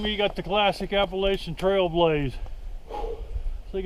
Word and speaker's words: Appalachian: I should say Appalachian Trail. That's the correct pronunciation of it. It ain't Appalachian, it's Appalachian. Well, this is pretty cool right through here.